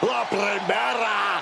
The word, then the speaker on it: La Primera: La Primera, Stephanie McCare. You need to roll your R's a little bit on that, man. La Primera.